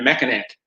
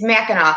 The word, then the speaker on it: Mackinac: about it yet randy's been to mechanic it's mackinac you know what's so funny i'm from michigan or not from not from michigan there's certain words that us michiganders uh say that people always mispronounce and mackinaw is one of them spelled neck and neck